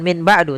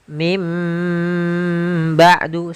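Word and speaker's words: من بعد: maka kita bacanya dengan bukan Min ba'du tapi mim ba'du sambil ditahan dengan gunahnya yaitu suara nunnya dirubah menjadi suara huruf mim jadi ikqlab itu merubah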